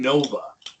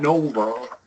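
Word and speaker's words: Lou Nova: Lun Nova. Lun Nova. Nova. Nova. No, not Nova. Nova. Nova. Yes. Yes. It's a short u sound.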